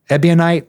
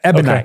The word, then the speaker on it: ebonite: It's called like ebionite or something. Okay. Ebonite rod. Man, I'm saying it wrong. Like the ebionites is an S-scene group, but like I'm getting 2 words confused. Ebonite, maybe. Yeah. Ebonite.